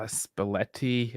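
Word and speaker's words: Spalletti: cry this weekend uh spaletti uh say it rhymes with spaghetti but it sounds spaghetti but right all right translation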